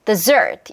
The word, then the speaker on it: dessert: 자, 그러면 da라 요 리듬에 맞추면 desert 이거고 da 요 리듬에 맞추면 dessert 이렇게 하면 여러분 발음이 조금 틀어져도요.